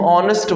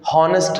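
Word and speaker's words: honest: क्योंकि हम इसको हॉर्स बोलते हैं, आर्स नहीं, और इसको हम ऑनेस्ट बोलते हैं, हॉनेस्ट नहीं।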